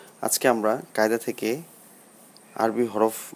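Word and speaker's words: حاء: আলিফ বা তা সা জিম হা এর উচ্চারণটা একটু ডিপ থেকে হবে গলার মাঝখান থেকে হা দাল জাল র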